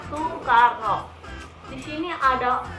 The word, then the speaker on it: Soekarno: Karena dia namanya itu pakai yang lama, jadi Soekarno, tapi bacanya Soekarno.